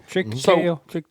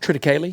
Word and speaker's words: triticale: Triticale? Triticale? Is that how you say it? Triticale. That's the way I've always said it. Yeah, triticale. That's right.